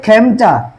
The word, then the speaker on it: খেমটা: ধ্বনির বিবৃত উচ্চারণ হয়, খাঁটি বাংলা শব্দে এ ধ্বনির বিবৃত উচ্চারণ হয়। দেখো, এটা বলছে খেমটা, খাঁটি বাংলা শব্দ, এই